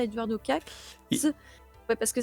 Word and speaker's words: Kac: Là, la chronique, elle est vraiment consacrée à Eduardo Katz. Et- Ouais, parce que ça s'écrit Kak, K-A-C, mais ça se prononce apparemment Katz.